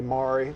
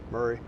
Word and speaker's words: Maury: It's actually, that's the way Murray is the way I pronounce it, but I'm not going to tell you how to say it, Pat. You say Maury, that's all right. Is that not the local pronunciation of it there? Murray. Wow. Murray is the way most of the locals say it.